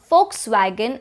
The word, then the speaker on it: Volkswagen: be mojito and jalapeno kind of like this word in german you have volkswagen and not volkswagen the word is a first sound so it would be volkswagen volkswagen if you are interested